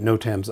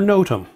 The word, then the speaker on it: NOTAM: to pronounce no tam is it no tam or notum who cares either way is acceptable and if anyone tells